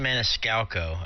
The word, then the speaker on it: Maniscalco: Is it Manistoico or Maniscalco? How do you say it, Perry? Yeah, Sebastian Maniscalco. It's how I believe it's pronounced.